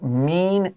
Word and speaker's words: mean: So when we say mean，那个 e-a 发 long e，but 变成过去式，we need to say meant 短 e。